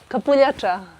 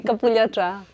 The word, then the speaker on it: kapuljača: Look kapuljača. No, Capua.